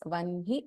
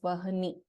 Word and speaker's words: वह्नि: So please note that this is pronounced as Vanhi and not as Vahani.